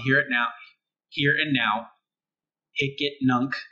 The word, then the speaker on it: Hicetnunc: Hicetnunc is how it's said.